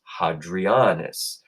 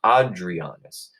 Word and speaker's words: Hadrianus: His real name was Hadrianus. Now, sometimes that H would get dropped too, and Hadrianus would become Adrianus. In fact, that's where our name Adrian comes from. But I like to pronounce the H, so I'll call him Hadrianus.